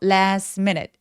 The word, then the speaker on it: last minute: STM처럼 자음이 이렇게 뭉쳐 있는 경우에는 중간에 T나 d를 삭제해서 발음을 안 해요. 그래서 last minute last minute이라고 하는데요.